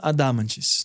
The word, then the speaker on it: Adhamantis: Daí, o meu Instagram é @adamantis. Adamantis se escreve ADHAMANTIS. A gente vai deixar o link É com depois. Beleza, massa. É com DH Adamantis, tá?